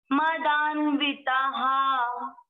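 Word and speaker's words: मदान्विताः: तो इसको पढ़ेंगे हा, विसर्ग कभी भी नहीं छोड़ना है। धन मान मदान्विता हा।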